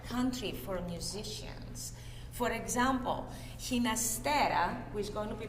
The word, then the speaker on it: Ginastera: with the spanish pronunciation ginastera but ginastera with a g like george to reflect his italian heritage and again he was